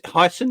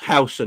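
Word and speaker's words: Huijsen: But Hyson, is that how you pronounce his name? Hyson? I'll keep hearing Hyson. What do you reckon, Mons? Housen, that's it. Not hoisin sauce.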